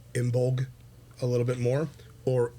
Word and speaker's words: Imbolc: and celebrations of imul now there are many different ways to spell it there's many different ways to say it okay um the two being a a follower and a practitioner of Irish paganism uh we tend to go to imul a little bit more